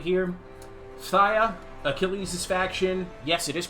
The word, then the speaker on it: Phthia: Phthia, Achilles' faction. Yes, it is pronounced Phthia. That's F sound. Thigh as in your leg. Phthia.